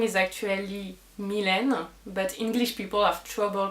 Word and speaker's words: Mylène: from paris france well my name is actually milena but english people have trouble pronouncing it so they often call me